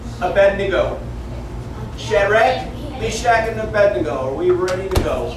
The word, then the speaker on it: Abednego: See, now a lot of people say Abednego, but it's not Abednego, it's Abednego. How? So, like to bed we go. Abednego. Shadrach, Meshach, and Abednego.